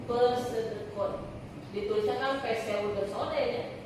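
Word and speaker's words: pseudocode: Nah, kalau pesedekot dia kode semu makanya disebut pes pe bacanya pesedekun ditulisnya kan peseudone ya dibacanya pesedekun nah dia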